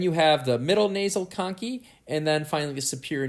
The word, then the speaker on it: conchae: key rather I'm sorry American pronunciation is Tong key even though it looks like it may be pronounced as concave and remember that they